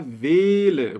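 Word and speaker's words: Welle: da pronúncia nenhuma basicamente esses dois L aqui servem para que eu encurte o valor da vogal que o antecede então no alemão Eu já falei para vocês que via de regra quando depois de uma vogal a gente tem apenas uma consoante a pronúncia dessa vogal é longa agora se eu tiver duas consoantes a vogal ela é curtinha então aqui eu não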